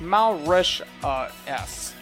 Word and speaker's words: Mauritius: I mean, it's kind of a little bit crazy to have to say that, but you know, it is Mauritius.